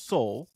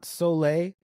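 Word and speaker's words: Soule: now so it's it's Soul it's Soul not soay it's Soul yeah it's Soul yes every time I looked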